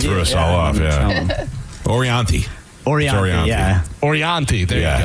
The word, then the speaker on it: Orianthi: By the way, is he still dating Orathani?